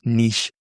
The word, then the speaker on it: niche: And this is the magic word in podcasting, your niche, or for the British people, niche. But I'm an American, so I pronounce it niche.